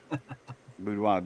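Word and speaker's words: boudoir: Budwo.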